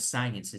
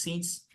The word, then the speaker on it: since: Entonces, since, cuidado con la pronunciación, no es science, es since, para hablar de un punto en el tiempo.